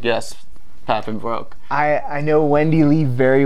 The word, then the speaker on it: Papenbrook: She said Papenbrook. I was like, yes, Papenbrook.